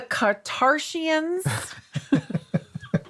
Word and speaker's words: Kattarshians: And it is Keeping Up with the Kattarshians.